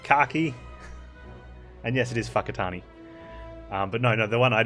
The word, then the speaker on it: Whakatane: It's not spelt with an F, Kaki. And yes, it is Whakatane.